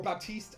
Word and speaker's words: Baptiste: Baptiste, or Baptiste, as I've been told it's pronounced.